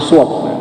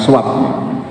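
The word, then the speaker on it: swab: shop ya saat puasa bacanya yang tepat itu sword bukan Swag bukan suap walaupun Maksudnya Sama saja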